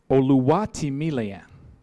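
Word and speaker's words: Oluwatimileyin: All right, for our next discussant, I have to get a little Yoruba on you to pronounce his name. Oluwatimileyan.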